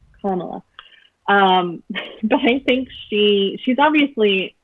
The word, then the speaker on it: Kamala: I always say it wrong, and I'm trying so hard to remember Kamala.